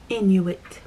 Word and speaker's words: Inuit: And last but not least, I am 1.0% Inuit. It is spelled I-N-U-I-T, Inuit.